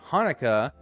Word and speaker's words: Hanukkah: But Hanukkah, C-H-A-N-U-K-A-H, is more accurate to the actual Hebrew pronunciation of it, which would be Hanukkah with a ha.